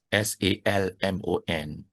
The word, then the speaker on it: salmon: You try introduce pronunciation improve right even one good example the words s a l m o n okay salmon but in English it's not salmon Yeah.